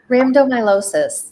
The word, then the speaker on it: rhabdomyolysis: And so they feel that it's maybe some sort of genetic component, but she, I'm gonna let you pronounce the condition. If you it's Rambo something. Rhabdomyolysis.